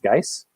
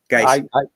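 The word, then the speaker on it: Guice: And I think his last name's pronounced Geis. I've heard people say Butch Geis. That's correct. Geis.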